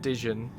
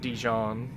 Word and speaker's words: Dijon: Yeah, it's pronounced Dijon. Not Dijon. Well, the mustard type is pronounced Dijon, but... this dude's name is Dijon.